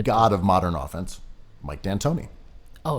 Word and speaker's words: D'Antoni: other hand i love mike d'antoni or d'antoni as it's supposed to be pronounced you know the ultimate